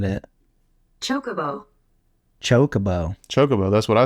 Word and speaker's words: Chocobo: to pronounce that because I thought it was Chocobo like kind of like chocolate Chocobo I think I've always said Chocobo like maybe it's Chicago it could be changed the emphasis around yeah see I'm not